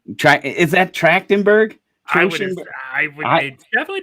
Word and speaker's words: Trachtenberg: right try is that trachtenberg definitely trenchenburg it looks it has a ch how would you pronounce it track yeah it's t-r-a-c-h-t-e-n-b-u-r-g